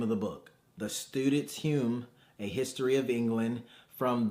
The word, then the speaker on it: Hume: So today we have this book is called The Student's Hume, or I'm gonna assume it may be pronounced Hume. It's Hume, and I'll put it on the screen.